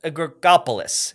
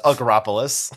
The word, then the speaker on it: Agropolis: than those and that's agrigopolis and i'm pretty sure i just butchered that yeah jonathan would you like to say it just agropolis thank you now this is